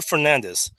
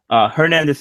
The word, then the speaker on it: Hernandez: Welcome to the show, Gio Hernandez. Did I pronounce that right? Is it Hernandez or Fernandez? Hernandez is correct, sir.